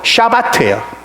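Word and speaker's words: שבת: 영어의 7하고 발음이 비슷하죠. 근데 안식일은 영어로 뭐라 그러죠? 사바스라고 그러잖아요. 히브리 말로 샤바트예요.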